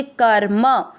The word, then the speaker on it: कर्म: क में अमिक्स करते हुए म के ऊपर आधा र क के साथ पढ़ेंगे कर और म में अमिक्स करेंगे कर्म।